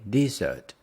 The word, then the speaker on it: dessert: dessert dessert we say dessert the stress is on the second one what's your favorite dessert